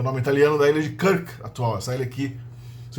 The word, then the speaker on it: Krk: que é o nome italiano da ilha de Krk atual. Essa ilha aqui se escreve K-R-K, Krk.